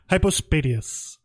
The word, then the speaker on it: hypospadias: __ ] it I still I post a deus hypospadias that is the name of this episode why